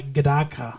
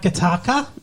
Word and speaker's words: Gattaca: movie we saw uh I believe it's pronounced uh gadaka oh Jesus Gattaca and you know it you know it it's not kataka no okay uh anyways